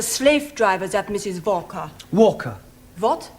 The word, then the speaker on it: Walker: Walker. What? W is pronounced Your employer's name is Walker. Yeah, Volker.